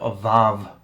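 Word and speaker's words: ו: to look it up avov is how i'm instructed to pronounce it i'm not an expert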